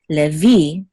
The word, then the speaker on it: Levi: together will say v, levi, and the accent is on the last syllable, so it's levi. Okay, this is the accent mark, levi, instead of Levi in English.